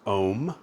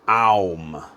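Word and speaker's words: ॐ: So we can go, and you can pronounce it as Om or Aum.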